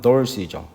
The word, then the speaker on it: Dorothy: 그 미국에서는 뭐라고 부르냐면 우리말로는 이제 도로시인데 미국 발음으로는 dorothy죠.